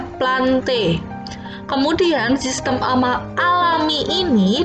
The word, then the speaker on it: plantae: tata cara pembacaan ilmiah Kalau belakangnya Ini api itu dibacanya itu berarti bacanya bukan plantae Tapi bacanya plante kemudian Robert vittek kali